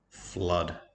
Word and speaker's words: flood: Flood, F-O-O-D. Just like in the word blood, the double O makes an sound.